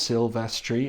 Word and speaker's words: Silvestri: signature with his um surname in three syllables sylvestri and then there's only